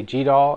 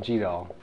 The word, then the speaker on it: GDAL: and this is where it's tough about um pronunciation it's g d l and some people say G and some people say G doll and some people just say the letters so